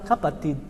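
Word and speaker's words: kapatid: cap não Cap não o ti não é igual é o ti o e também não falo o d ele tem um D mas ele é bem fraquinho né sim capati sim Tid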